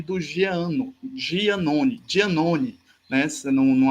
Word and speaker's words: Giannone: podemos falar do precária e do Jean no giannone dia None nessa não não a pronúncia mais italiana o dia Zone Então hoje nós vimos um pouco sobre a